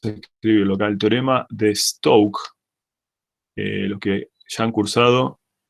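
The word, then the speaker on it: Stokes: lo vamos a pedir se escribe stockes te se dice teorema de stoke y ese nos dice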